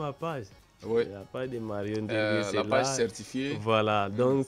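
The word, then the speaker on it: Nderngue: Et puis N-D-E-R-N-G-U-E. Ndirgué. Donc, Ndirgué qui s'écrit N-D-E-R-N-G-U-E.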